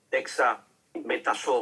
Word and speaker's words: dexametasona: La Dexa, usted me la pronuncia, doctor. Dexametasona. Dexametasona, exacto.